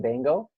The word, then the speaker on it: Baingo: Yeah, no, I was just saying, is the correct pronunciation Baingo?